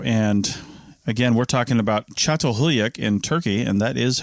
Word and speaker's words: Çatalhöyük: the archaeology show and again we're talking about chat hulak in turkey and that is how you pronounce it it's got a whole bunch of